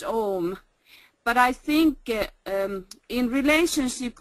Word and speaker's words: AUM: And said that it should be pronounced Om.